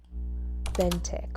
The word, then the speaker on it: authentic: Authentic. with an emphasis on the second syllable.